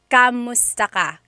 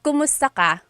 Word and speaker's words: kumusta: If you hear my pronunciation and then other people when they say it, usually they say kamusta ka? kamusta ka. So it sounds like it's spelled with the letter A, K-A-M, but technically it's spelled with a K-U-M. That's like the correct spelling of it. But the pronunciation usually is kumusta ka, kumusta ka.